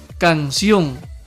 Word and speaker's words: canción: Observa ahora esta otra palabra. Canción. Se divide así. Canción. Muy bien. Sion es la sílaba tónica.